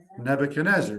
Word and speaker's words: Nebuchadnezzar: And the Hebrew pronunciation of Nebuchadrezzar is Nebuchadnezzar, right?